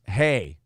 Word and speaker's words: He: Asian names it's pronounced hey I'm sure h e is pronounced hey as in hey you get over there and